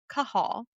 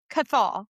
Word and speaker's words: Cahal: path of Sir Lachlan Cahal, not Cathol as I have been pronouncing it up until Kate just read me the pronunciation guide.